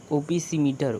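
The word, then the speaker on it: opisometer: जाता है आपका ओपो ओपीसीमीटर ओपो नहीं ओपीसोमीटर ओपी ओपोसी अरे यार प्रोनाउंसिएशन रॉन्ग नहीं होना चाहिए।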